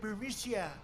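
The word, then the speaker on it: Burisma: executives so this uh buremicia bermucia they say pronounce it burmesia a real beautiful company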